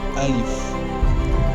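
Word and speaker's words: ألف: here is alif if you are with me alif alif how we pronounce it i say alif it's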